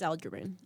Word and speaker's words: Aljamain: I can't pronounce Aljamain. It is Aljamain.